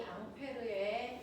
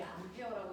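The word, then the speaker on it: Ampère: 됐어.이 앙페르의 이름 원래 이름이 앙페르고요. 미국분들이 암페어라고 읽었다고 했죠.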